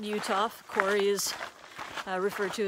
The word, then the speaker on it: Uhthoff: um it's right near a pit uh on utah line there's a lot a large limestone quarry